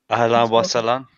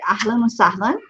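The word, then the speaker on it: أهلا وسهلا: Ahlan wa salam. Good. Ahlan wa sahlan.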